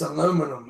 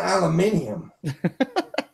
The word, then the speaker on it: aluminum: It's aluminum. It is aluminum. It's not aluminium.